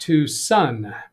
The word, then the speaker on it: Tucson: interesting Tom K says hi Doug yes it's Tucson Arizona pronounced Tucson so I'm wondering if you really means two